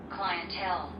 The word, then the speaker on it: clientele: Clientele. Clientele. Clientele. So there are three parts to it. The last part is stress. So it's clientele.